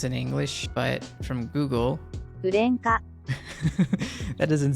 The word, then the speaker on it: Gurenge: I'm going to be checking out today is Gurenge. It's Gurenge, right? Like at least the way it's spelled in English, but from Google, Gurenge. that doesn't sound like Gurenge.